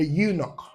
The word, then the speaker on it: eunuch: A eunuch, yeah, a eunuch. So not an European, not an eunuch, because when you pronounce them, these words, what you hear is U, like Y sound.